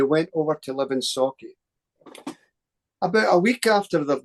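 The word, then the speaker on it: Sauchie: So Scotland's biggest poltergeist case, the Socky poltergeist. Is that the right way to pronounce it?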